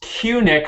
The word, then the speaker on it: Cunic: other David, our third David, number three, Dave to this three, is David Cunic, pronounced Cunic.